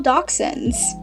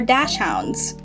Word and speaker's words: dachshund: in this hall are all dachshunds or dash hounds for those of you who say it like that no judgment but i say dachshund next up we have